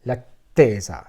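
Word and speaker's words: L'Attesa: I had purchased the Discovery set, and I had purchased Russian tea and Lattesa. It's pronounced like this.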